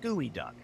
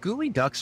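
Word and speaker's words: geoduck: desing it's just like gooey duck GE e o du u c k gooey duck I've only heard of Huey Dewey and Louie Duck no gooey Ducks aren't ducks they're those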